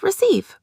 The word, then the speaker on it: receive: The remaining word is receive, which is stressed on the second syllable.